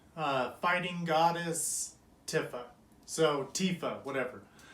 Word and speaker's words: Tifa: into this o2 uh fighting goddess tiffa so tifa whatever it's a final fantasy 7 remake tifa statue i'm gonna really try to say tifa but uh if you're someone like me you